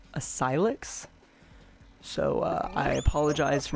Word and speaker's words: Asylix: video all right I figured it out it's pronounced ayx so uh I apologize